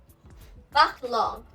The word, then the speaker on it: baccalauréat: Baccalauréat. Baccalauréat, which means speak here. And you can see here, baccalauréat. We do not pronounce the t t t in the end.